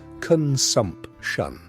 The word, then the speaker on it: consumption: By the time they are 30, many of them will be dead from what was then called consumption, pronounced con-sump-shun, and what we now call tuberculosis.